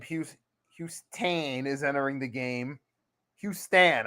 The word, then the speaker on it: Houston: Houston, I should say. It's like Houston pronounced with Stan instead of ton.